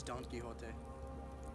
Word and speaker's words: Don Quixote: get recognition what is Don Quixote Don Pettit a concrete sort it is pronounced Don Quixote gracias which anyways I